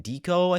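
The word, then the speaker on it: DIKO: the ticker and then Deco I think is what it's pronounced d-i-k-o um these are a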